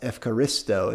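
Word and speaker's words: ευχαριστώ: uses this word Eucharist which is actually said today in Greek as evaristo it's they've changed some of that um some of that uh pronunciation has changed a bit but it's still the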